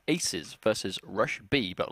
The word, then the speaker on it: 2Z: Now, we've been told that 2Z is pronounced aces. Oh, is it? So apparently it's aces versus RushB.